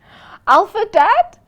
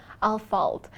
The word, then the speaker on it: Ahlfeldt: Alpha Dad. Alpha Dad. It's Al. But it's a running joke. It's all right. Al, you know the pronunciation is so Okay. You know what? Al falt.